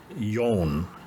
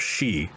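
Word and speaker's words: 四: So in Japan, when counting, they pronounce it as yon instead of shi, which is, death.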